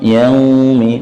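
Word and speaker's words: يومِ: Kemudian yau ada waw sukun, ini lin, istilahnya lin. Yau ada waw sukun. Waw sukun dibaca dengan indhimamus syafatain, memonyongkan bibir. Yaumi, jangan ke o.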